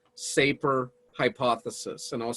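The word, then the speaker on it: Sapir: want you to consider is called the wharf safer hypothesis and i'll spell that for for you w-h-o-r-f and then there's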